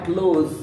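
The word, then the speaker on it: clothes: اس جمع كلوز الملابس بس النطق الصح كلوز كلوز كده ماشي بس اسم جمع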